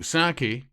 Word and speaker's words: Psaki: I just wanted to know how to pronounce it. Anyway. So, Saki, yeah, you were right there, Scott.